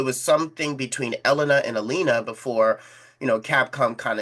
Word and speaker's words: Elena: So it was something between Elellanena and Alina before, you know, Capcom kind of set the record straight and said, "No, it's it's Elena."